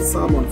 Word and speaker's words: salmon: some either chicken or salmon. Fish. Call it fish. So I might do the roasted salmon. Salmon. Salmon. Salmon. Salmon. There's no L. Well, there's an L, but you don't pronounce it.